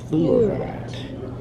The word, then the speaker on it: fluorite: Everyone knows topaz, and then fluorite. Sounds like fleur, but not.